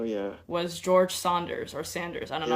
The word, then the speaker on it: Saunders: and family oh yeah was George Saunders or Sanders I don't know how to pronounce his name yeah Saunders Saunders okay as a person who has not read